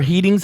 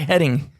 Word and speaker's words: heading: It's like, do you know how to say the word head? Look at it. It's HEAD and then ING. I'm going in the right heading.